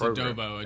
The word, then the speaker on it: adobo: like Adobe based huh Adobe is it Adobe or see do I say it wrong is it adobo Adobe or adob sure it's adobo adobe's the okay CU